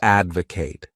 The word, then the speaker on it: advocate: wonderful verb is to Advocate this word has three syllables and the stress is on that first syllable advocate to Advocate means